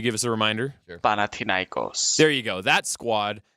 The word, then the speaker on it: Panathinaikos: name I don't know, I forgetting how to pronounce. Could you give us a reminder? Sure. Panathinaikos.